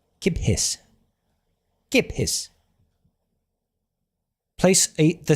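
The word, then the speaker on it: kippis: kiphiss. Giphiss. Place a the stress strictly on the first syllable. Gip. Gipus. Double P. Hold the P sound slightly longer because of the double letter.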